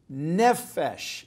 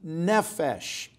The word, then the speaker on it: nephesh: Randy Alcorn wrote this quote, "When God breathed a spirit in the Adam's body made from the earth, Adam became nephesh."